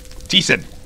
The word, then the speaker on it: Thiessen: Alright, now, I'm fighting on behalf of Timothy Thiessen. Yes. Thiessen, however you pronounce it. You said it right the first time. Thiessen.